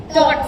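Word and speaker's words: taught: टॉट टी ए यू जी एच टी टॉट। अब देखो ए होता है आ। ओ होता है ओ। लेकिन ये ए यू क्या बना? ओ जैसे अगस्त में होता है ए यू अगस्त के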